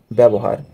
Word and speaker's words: ব্যবহার: উচ্চারণের প্রথম নিয়মটি হচ্ছে বাংলা আদ্য ব্যঞ্জন বর্ণে জফলা যুক্ত হলে বর্ণটি একারান্তে উচ্চারিত হবে অর্থাৎ কোন একটি শব্দের